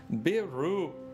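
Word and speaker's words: ビール: of Asian beers hiy beer is the most popular alcoholic drink in Japan pronounced biru was introduced into Japan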